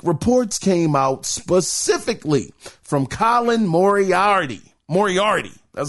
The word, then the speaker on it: Colin Moriarty: Now, late last week, reports came out specifically from Colin Moriarty, that's how you say his name, that Concord cost Sony $400 million.